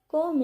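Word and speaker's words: comb: कोम it properly. इसको कोम नहीं बोलना क्योंकि बी साइलेंट होता है।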